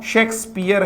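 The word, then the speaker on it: Shakespeare: सर शेक्सपियर, सर शेक्सपियर, ये सेक्स तो वो वाला हो गया है, ये सेक्स नहीं है मित्रों, शेक्सपियर है।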